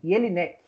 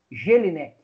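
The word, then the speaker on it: Jellinek: Agora eu vou falar o nome do doutrinador, Jelinek, ou, se você quiser ler como se escreve, né, Jelinek.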